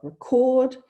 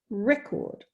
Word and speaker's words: record: that quite explicit so for example here we've got record where the yellow cuisenaire rod represents that that longest syllable and then record for the noun and so you know